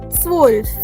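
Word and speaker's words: zwölf: Now number 12 will have a Z in it and umlauts also. So how will you pronounce it? Swolf. Swolf. Just like wolf. Okay? Just like wolf, you will pronounce swolf. Swolf.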